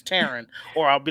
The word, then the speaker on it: Teran: how you doing terran no it's not duran it's terran or i'll be like